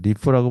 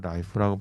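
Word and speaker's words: LIFO: 좋아해요.이라고 발음 안 나고 그래서 리프라고 발음 안 나고 라이프라고 발음을 많이 하는 거 같아요. 그래서 라이프 영어 사진에도 라이프라고 돼 있죠.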